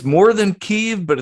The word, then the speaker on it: Kyiv: And I was like, wait, I've always heard them pronounce it Kyiv.